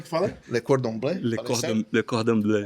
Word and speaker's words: Le Cordon Bleu: É Le Cordon Bleu, né, que fala? Pronunciei certo? Verdade. O cara foi em Paris. Como é que fala aí? Como é que fala? Le Cordon Bleu? Le Cordon Bleu.